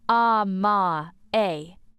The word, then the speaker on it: Amae: Amae, Amae, pronounced Amae.